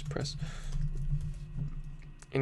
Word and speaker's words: Press: And then you can say footer tag, much love, Press. And yes, it's Pressa. A lot of people mispronounce that.